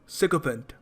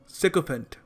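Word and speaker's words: sycophant: देखो इस शब्द को प्रोनाउंस करने का सही तरीका है सको फेंट सको फेंट इसका मतलब होता है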